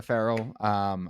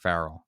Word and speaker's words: Farrell: We got Farrell back on the podcast from Killowen Construction. I feel like I just said his last name wrong. Farrell, not Farrell.